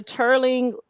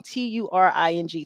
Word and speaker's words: Turing: And it was with the Turing machine.